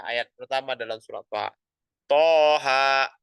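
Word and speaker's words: Taha: Toha gitu bacanya. Jangan kita baca Toha, itu salah. Ya, kita bacanya dengan apa? Dengan dua harokat.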